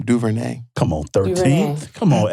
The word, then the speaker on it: DuVernay: I never pronounced the last name. DuVernay.